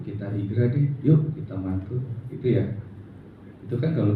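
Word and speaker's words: Mantoux: yang ketiga adalah mantu ini bacanya mantu bukan mantuk sama kayak bukan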